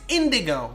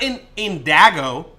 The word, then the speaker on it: indigo: It's indigo, not indago.